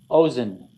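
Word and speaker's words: אוזן: Ozen. Ozen means ear. So when he marks it with blue like that, he's telling you the accent's on the first syllable.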